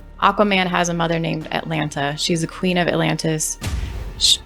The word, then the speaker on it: Atlanta: See, the way it's spelled is how all Atlanta people say it. We don't say Atlanta, it's Atlanta. Oh, that's Right.